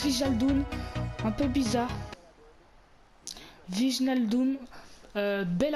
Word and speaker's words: Wijnaldum: Ça se prononce Wijnaldum, un peu bizarre.